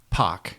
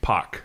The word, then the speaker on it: Pak: with a hard J like jungle yeah Pac Pac okay very good and Barrett Barrett yeah just